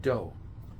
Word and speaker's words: dough: One syllable for the word do. D O U G H. Do is spelled D O U G H. One syllable. Do. All of this is one syllable after the D.